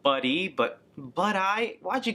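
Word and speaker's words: Buddi: but I I know it's supposed to be pronounced buddy but but I why'd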